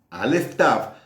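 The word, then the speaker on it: Aleph Tav: Número uno, Aleph Taf hace referencia a la Torá, a la palabra.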